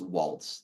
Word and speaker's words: Walz: Waltz, it's pronounced Waltz.